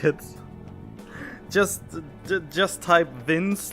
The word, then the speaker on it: Vinc: Interestingly enough, a lot of people I talked with initially think that Vince, V-I-N-C, is actually pronounced Vink, but in my native language, the C, when I pronounce C, there's an E at the end, so I always pronounce it Vince without an E at the end, but it seems like when it comes to the actual English native language, that the C is sometimes pronounced like a K.